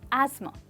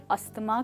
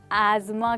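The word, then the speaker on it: asthma: उसे रात के बीच में अस्थमा का नहीं, एज़मा का अटैक पड़ गया।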